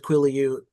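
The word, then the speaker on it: Quileute: I looked up the pronunciation. It said Quillute.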